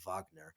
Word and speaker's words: Wagner: the Wagner mercenary group, or Wagner, or, however you want to pronounce it. I guess I should correctly pronounce it as Wagner.